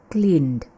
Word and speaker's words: cleaned: Kita tidak baca cleaned tapi cleaned. Jadi ada sound de di belakang ya. Cleaned.